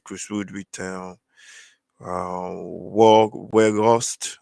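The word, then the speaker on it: Weghorst: wood retail uh walk where ghost i think his name is pronounced where ghost or where where ghost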